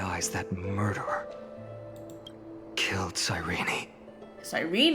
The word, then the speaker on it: Cyrene: Cyrene is how you say it, not Cyrene.